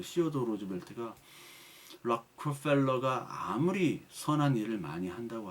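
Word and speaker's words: Rockefeller: 여러분 락커펠러 그 락펠러 발음 락커펠러인데 정확한 발음 락커펠러가 참 나중에 이 양반이 뭐 하나님을 어떻게 잘 회개해서 돌아왔나 그건 모르겠어요 솔직히.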